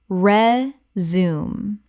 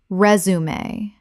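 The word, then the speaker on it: résumé: Re-zoom. Correct pronunciation. Resume. Three syllables. The French accent marks mean both e's are pronounced. From French.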